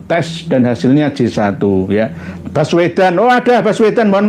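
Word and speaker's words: Baswedan: Nggih bas Wedan tapi tulisannya bukan basuwaidan maksudnya ba suwaidan gitu loh Tapi kadang-kadang bacanya bas gitu loh ba suwaidan misalkan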